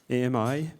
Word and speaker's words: AMI: We call it advanced machine intelligence AMI but we actually pronounce it ami like in French because it means friend in French.